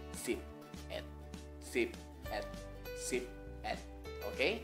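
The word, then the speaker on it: สิบเอ็ด: Jadinya kelas menengah mati berarti siang E. Jadinya sip et.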